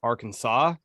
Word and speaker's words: Arkansas: hold on a second if you take out the AR we literally call it Kansas but you add the AR in there and it's Arkansas like why wouldn't it be R can is this that makes more sense yeah should we should